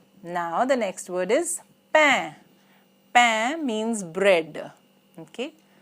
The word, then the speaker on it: pain: Now the next word is pain. Pain means bread. Okay? Pain, A-I-N, is pronounced as un.